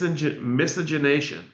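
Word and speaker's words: miscegenation: a pamphlet that introduced a new word, mis misogynation, claiming that Lincoln wanted to mix the races. Misogynation is spelled m i s c e g e n a t i o n.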